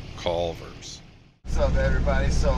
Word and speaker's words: Culver's: You gotta say it like Culver's. Culver's.